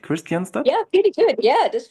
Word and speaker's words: Kristianstad: Is it pronounced right? Kristianstad?